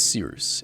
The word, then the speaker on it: Cyrus: My name is Seeroos. It's spelled like Cyrus, pronounced like sea rooster. Just take out the ter.